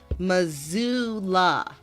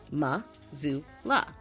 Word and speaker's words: Missoula: It looks like a S, but it's not a S, it's a Z.